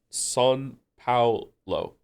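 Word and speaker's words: São Paulo: It's pronounced Paulo. Lo? San Paulo.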